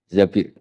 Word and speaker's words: Zabir: Kemudian saya nikah sama Abdurrahman bin Zabir di hadis ini bukan bacanya bukan Zubair, tapi Zabir.